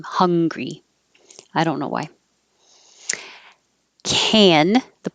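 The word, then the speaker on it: Hungary: Americans pronounce the name of the country and the adjective exactly the same, hungry.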